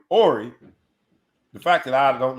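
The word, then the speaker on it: Horry: time the fact that the fact that i watched him play for years and i'm still wondering whether or not the h is silent it brings me to what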